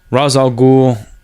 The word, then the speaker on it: Ra's al Ghul: And then in the whole episode of how Ra's al Ghul, or Raish, never liked to pronounce Raish al Ghul, I like Ra's al Ghul took over Talia al